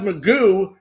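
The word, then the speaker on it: McGough: I mean, Scott is it pronounced Magoo, I pronounce. Yes. McGow.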